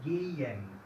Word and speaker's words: gehen: Se pronuncia gehen. Okay. La primera es más cerca a la I y la segunda es más la E.